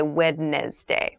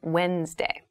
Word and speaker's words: Wednesday: this is pronounced wednesday there's a d there but we don't say wednesday we say wednesday wednesday the 18th wednesday